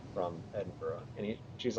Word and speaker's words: Edinburgh: I'm actually not from Edinburgh and she's like considering how well you pronounce that I can tell because you didn't say Edenberg uh because if you've